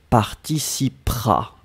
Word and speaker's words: participera: je lé prononcer mais le e juste avant le r est presque presque muet elle participera propre à elle participera